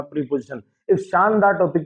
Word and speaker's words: preposition: ठीक है, तो इसको इसका उच्चारण क्या होता है, इसका उच्चारण होता है प्रपोजिशन।